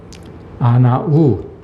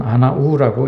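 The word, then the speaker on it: ענו: 아나부 같은 말입니다. 이 히브리어로 이 우라는 말은 부라고 발음하기도 하고 우라고 발음하기도 합니다. 그래서 어떤 사람은 아나부라고 읽기도 하고 어떤 사람은 아나우라고 읽기도 합니다.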